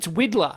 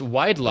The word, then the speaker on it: Widlar: It's Widler. It's Weidler.